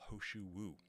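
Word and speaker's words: He Shou Wu: Then you can look also towards, for example, Hoshu Wu. This is spelled He space Shou space Wu.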